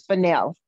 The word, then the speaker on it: Fennell: No, it's Fennell. Oh, I didn't do too bad.